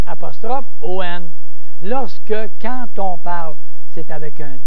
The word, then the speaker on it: quand: Tandis que quand on pense, quand on dit, Q-U-A-N-D, on, parce que le D se prononce comme un T, quand on veut, quand on.